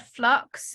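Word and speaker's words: f.lux: it's a free program it's called flux it's uh it's spelled f dot l-u-x so you just go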